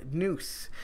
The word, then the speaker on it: Knuth: is known as Kevin noose now I'm assuming his name is noose and sis Island K otherwise it's kevinclu which I think it was more yeah it's more silent k to be perfectly honest